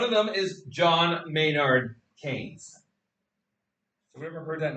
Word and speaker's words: Keynes: One of them is John Maynard Kanes. Anybody ever heard that name before? It looks like KE or something, but it's it rhymes with heard that before? Yeah. what he so John Mayor Kanees was a is a British economist uh who